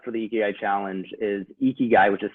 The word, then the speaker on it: ikigai: to sign up for the eki challenge is ikigai which is spelled i-k-i-g-a-i so ikigai dot everyday and that's